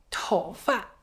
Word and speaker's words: 头发: 头发这个发字发音就很轻，头发。